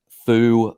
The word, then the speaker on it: FU: uh freeform universal uh Foo is how I pronounce it fu is how other people enjoy pronouncing it um but uh I